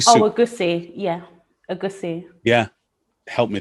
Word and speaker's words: egusi: Sorry, is it egusi stew or egusi soup? Oh, egusi, yeah, egusi. Yeah, help me there with my pronunciation.